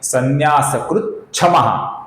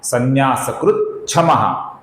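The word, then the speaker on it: संन्यासकृत्क्षमः: पहला नाम है संन्यासकृत, फिर है शमः, इसका बन जाता है संन्यासकृत क्षमः, संन्यासकृत क्षमः। पहले च का उच्चारण फिर छ का उच्चारण, संन्यासकृत क्षमः।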